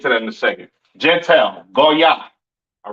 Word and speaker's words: Gentile: Gentile, right? Pronounced in the Hebrew, Goya. Goya. The Yiddish man says Goyim or Goyim or whatever the hell he says. That's not the proper pronunciation for the word Gentile in Hebrew. It is Goya, all right?